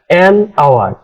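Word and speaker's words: hour: সেখানে আমরা ব্যবহার করি যেমন ধরো honest man আওয়ার honest man আওয়ার ইত্যাদি এখানে দেখো অনেস্টের এইচ এর উচ্চারণ কিন্তু হয়নি যে কারণে উচ্চারণ হয়েছে অনেস্ট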